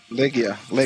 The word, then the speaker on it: Legia: Is it Legia or Legia? How you say it? Legia. So I'm right. See? So the production pronounces it very wrong.